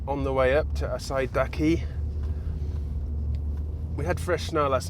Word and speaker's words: Asahidake: I did think that the Japanese pronunciation of Asahidake was maybe shortened to Asidake, but we had a Japanese guide yesterday and he did add in the H, so I think it is Asahidake.